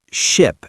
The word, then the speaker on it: ship: Right, ship has a short i sound like in sit or bit. Sheep has a long e sound like in sea or tree.